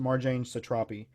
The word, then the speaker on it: Marjane Satrapi: book it's by Marjane I think her name is pronounced Marjane Satrapi it is one of